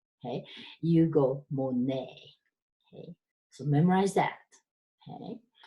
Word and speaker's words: Monet: M or n ET Monet because it's French you don't pronounce that T cheese silent so you don't go more net Hey you go Monet Hey so memorize that